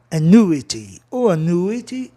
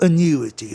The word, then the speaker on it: annuity: Então a sílaba tônica vai aonde? No U. Annuity. Ou annuity, ok? Tanto faz. Então, o U do ditongo vai ser um ditongo decrescente, annuity.